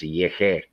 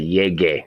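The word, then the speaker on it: llegué: So instead of saying this, that would be pronounced yeje, because after if a G is followed by an E or an I, it goes soft. Like a soft G is pronounced like an H in English. So that would be pronounced yeje. But we want to say yege, a hard G.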